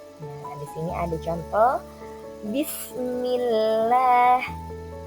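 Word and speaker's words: بسم الله: Nah, di sini ada contoh Bismillah, Bismillah. Nah, Bismillah bukan Billah ya. Jadi kata lafaz Allahnya dibacanya tipis karena harokat sebelumnya adalah harokat kasroh.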